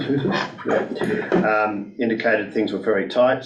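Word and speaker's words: Houssos: And again, all ministers, and particularly the Minister for Finance, who was again quite impressive, Courtney Housas, that's how you pronounce it, Housas, indicated things were very tight.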